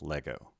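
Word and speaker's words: λέγω: have lego not lego because the acute accent is on the first syllable it's lego this word starts with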